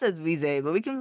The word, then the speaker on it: Reze: I know officially it's probably Reze.